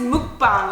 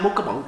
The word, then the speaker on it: mukbang: said hi this is mukbang or something I was like welcome to my mukabang mukabang oh my God I was like Nick she's like no that is not how you say it yeah so I